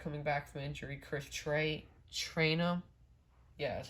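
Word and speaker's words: Trayanum: Chris Trainum.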